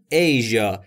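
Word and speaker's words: Asia: یعنی آسیا دقت بکن ایژ ایشی م میتونید بگید ایژ میتونید بگید خیلی اهمیتی نداره چون کلمه شبیه بهش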